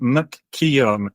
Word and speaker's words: McKeown: So, because when I say McKeown, I'm thinking of McKeown's Lager, who used to sponsor Blackburn Rovers. And yeah. that's spelled very different to your name, but Yeah. there you go. For those listening along at home, McKeown, McKeown. McKeown.